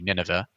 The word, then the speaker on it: Nineveh: we pronounce it but the anglicized pronunciation would be nineveh but i'll say ninwa